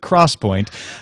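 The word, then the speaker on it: XPoint: Cross Point which is spelled x p o i n t but they insist that you pronounce it Cross Point uh 3D Cross Point memory is promised to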